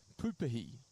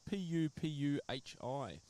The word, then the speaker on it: pupuhi: With the Māori vowels, they are pronounced differently to English. So Māori vowels, rather than A, E, I, O, and U, the pronunciation used is A, E, I, O, and U. So P-U, pu-pu, and H-I, rather than hi, that is he.